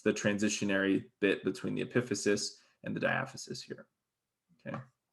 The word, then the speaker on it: epiphysis: I kind of switch back and forth, but the correct pronunciation is epiphysis.